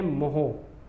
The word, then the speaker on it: mho: तो क्या हो जाएगा MHO, इसको आप बोलते हैं मोहो, ऐसे आप प्रोनाउंस करते हैं।